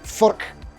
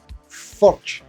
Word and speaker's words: Furch: taking the guitar to meet its maker, because Furch guitars were at 42 Gear Street, and I managed to get some studio time to talk with the main man, Mr. Peter Furch.